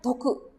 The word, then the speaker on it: 得: Kanji ini meraih ini dibacanya toku ya, toku. Nah, ini toku itu berarti meraih hal yang bagus gitu ya.